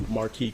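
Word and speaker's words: Marque: Please state your full name and then spell it for the record. Uh, full name is Marquy.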